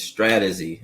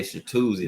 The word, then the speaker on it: Stratuzy: My name is Strategy. Everybody always get it wrong. Everybody say shoozi. That is not how you say it.